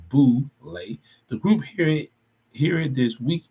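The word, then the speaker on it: Boulé: success of black men, known as the Boule, pronounced Boule.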